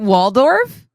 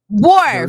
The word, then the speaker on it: Worf: Is it Waldorf?